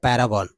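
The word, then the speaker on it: Paragon: एड्स देखे होंगे जी हां इसको शुद्ध शुद्ध उच्चारण इसका जो है आपको पता ही होगा पैरागन जी हां पैरागन पैरागन तो आपने देखा होगा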